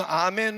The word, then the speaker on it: 아멘: 되어질 줄로 믿습니다 할렐루야 근데 이거 아멘 을 영어로 읽으면 안 돼요 원래는 영어발음 하면 안되는 밤에 a 맨 이라고 해서 아멘 은 원래 구약 성경을 쓴 히브리어 란 말입니다 거기에서 어떠한 그 말인 온 말인데 에 그걸 영어로 해보니까 a 매너로 된 거예요 그 a man